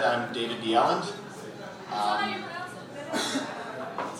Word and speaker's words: Bjelland: Hi, as he said, I'm David Bjelland. That's how you pronounce it.